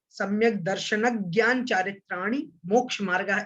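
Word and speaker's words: सम्यग्दर्शनज्ञानचारित्राणि मोक्षमार्गः: उच्चारण कैसे करना है, जैसे सम्यक दर्शन ज्ञान चारित्राणि मोक्ष मार्ग, इस प्रकार से सूत्र का उच्चारण करना है, ना कि सम्यक दर्शन ज्ञान चारित्राणि मोक्ष मार्ग, ऐसे उच्चारण नहीं करना है। जोड़ना है, दर्शन के ना को और ज्ञान के गा को जोड़ना है, सम्यक दर्शन ज्ञान ऐसा बोलना है, ठीक है।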